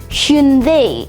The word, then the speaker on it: Hyundai: The way that you normally pronounce it is Hyundai or Hyundai. However, the official Korean pronunciation is more like Hyundai instead. So that's Hyundai.